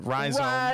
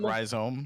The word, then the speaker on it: Rhyzohm: Rhizome is how I say it. Rhizome, you know. Rhizome. I accept rhizome as an accurate pronunciation. That is see, the like second. when I see it, I think ohm. You know, like from electricity, right?